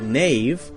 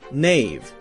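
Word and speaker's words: knave: in English were pronounced a word like Nave k-n-a-v-e would have been pronounced something like kanave canave now we have a silent k so we don't say Kana we say no knowledge Nave knives we say just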